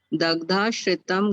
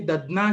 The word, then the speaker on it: दधना: त्रिफला कोल तरकारी क्वाथे दग्धाश्रितम घृतम तिलवक त्वक कृता चापम विषम ज्वर जित परम। थोड़ा गलत उच्चारण हुआ। त्रिफला कोल तरकारी क्वाथे दधना श्रितम घृतम, दधना है।